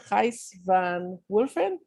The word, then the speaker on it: Gijs van Wulfen: Gijs van Wulfen. Am I pronouncing it okay?